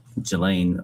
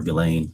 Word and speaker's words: Ghislaine: As best as we know, it's been publicly reported that in 2024, Ghislaine Maxwell, or Ghislaine, I think is how it's pronounced, arranged and wired $1 million to Publicist